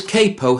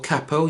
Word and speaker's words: capo: Now this capo here or cappo you can choose which way you wish to pronounce it is the equivalent of this.